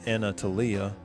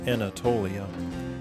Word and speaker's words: Anatolia: you may have noticed my pronunciation of anatalia switch to the corrected version Anatolia many thanks for that